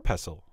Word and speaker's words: pestle: that over with our pestle yes the tea is silent and as you know